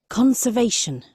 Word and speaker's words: conservation: Conservation. O la pronunciación gringa.